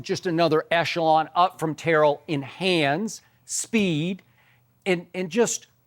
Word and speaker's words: Terrell: And Terrell turned to him and said, no, it's Terrell, coach.